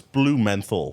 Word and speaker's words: Blumenthal: It's blue menthol.